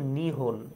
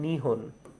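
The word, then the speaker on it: 日本: এই জাপানের অন্য আরেকটা নাম হলো গিয়ে, যদি আমরা লিখতে যাই তাহলে হবে হলো গিয়ে নিপ্পন, কিন্তু উচ্চারণ কি? উচ্চারণ হলো নিহন। উচ্চারণ কি? উচ্চারণ হলো গিয়ে নিহন। আচ্ছা, উচ্চারণ হলো গিয়ে নিহন।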